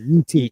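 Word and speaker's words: Yi Ti: Like, it's right on the borderline of how do you pronounce Yitai? Yitai or Yiti. Yitai. I'm sorry, Yiti.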